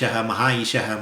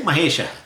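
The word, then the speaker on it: महेश: So definitely maha maha is mahaishah mahaishah. No no say mahesa. Okay. Mahayishah. Mahisha. What? Mahisha. Mahisha. Say mahesa. So simple.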